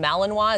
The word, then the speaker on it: Malinois: Okay, so obviously this type of dog, the Belgian Malinois, is that right?